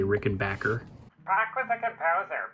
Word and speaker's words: Rickenbacher: You little a-holes who say Rick and Backer. Back with a composer. Back is pronounced just like it's spelled. There's no such thing as a Rickenbacher. It's a Rick and Backer.